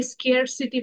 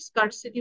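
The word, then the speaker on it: scarcity: অনেকে স্কেয়ার সিটি বলে, এটাও উচ্চারণ ঠিক, স্কার্সিটি বলে এটার উচ্চারণ ঠিক, দুটোই ঠিক।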